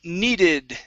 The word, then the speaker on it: needed: Next up is needed. Make sure to pronounce that ED ending.